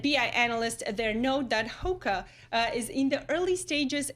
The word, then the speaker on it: Hoka: All right, so the owner of UGG and Hoka, is that how you pronounce that?